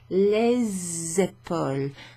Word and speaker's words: les épaules: In front of a noun that starts with a vowel, you pronounce the S when it precedes. So instead of les épaules, it becomes les épaules, and it's pronounced like a Z.